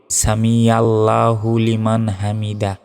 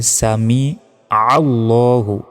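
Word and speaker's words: سمع الله: আমরা অনেকে কি বলি সামি আল্লাহু লিমান হামিদা এটা ভুল বলতে হবে সামি আল্লাহু আইনের উচ্চারণ করতে হবে সামি আল্লাহুতে এক সেকেন্ড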